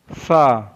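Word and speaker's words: ث: टा is pronounce, सा में ता में टीप है लेकिन सा में टॉप है। सा is pronounce from the टॉप ऑफ the tongue and the inner as ऑफ the upper teeth.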